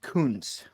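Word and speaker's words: Kuntz: He has to tell everyone, like, listen, it's actually pronounced Coons.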